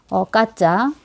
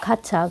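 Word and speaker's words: Катя: 카테리나를 더 많이 보는데, 이거에 이제 애칭을 생각을 해보면, 카테리나의 애칭은, 까짜, 카티아, 요즘 표기법으로는 카차, 그러니까 발음 나는 대로 쓰면 까짜죠. 까짜.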